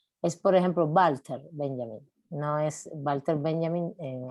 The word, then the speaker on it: Walter Benjamin: Y no sé qué me dijo, no se dice Walter Benjamin, es alemán, se dice Walter Benjamin.